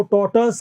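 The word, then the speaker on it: tortoise: Dengue को dinghy कहते हैं, टॉर्टोइज, कछुए को टॉर्टस कहते हैं, लायन को लायन कहते हैं।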